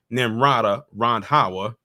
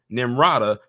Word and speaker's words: Nimrata: As Trump looks to defeat his primary rival nimada rhawa in South Carolina the Senator's home state in late February the hate I'm sorry almost said her name wrong nimrata the former governor of South Carolina appointed Scott